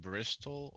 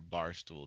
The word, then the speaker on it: Bristol: so go ahead so do you call it Bristol or bar stool dep par uh it's Bristol that's that's out of Ja